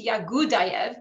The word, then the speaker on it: Yagudayev: So instead of saying Yahudayev, it's Yagudayev, because Russian does not have the H sound and instead pronounces that as a G.